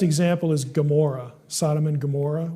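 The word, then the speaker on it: Gomorrah: is gamor Sodom and gomorah we spell it with a G it actually begins with Gan not gimmel in Hebrew so you get the G sound moade if we put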